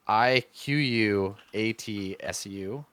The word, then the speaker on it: Iquatsu: The bow's name is Ikatsu. It's Iquatsu, and you don't know what that word means, but that's the bow's name.